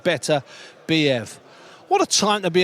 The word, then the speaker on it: Beterbiev: That's the way to pronounce it, Beterbiev.